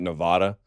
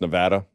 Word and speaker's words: Nevada: question apparently I valve I've always been mispronouncing Nevada I've been calling it Nevada and they get real bitter it sparingly it's Nevada so shots everyone in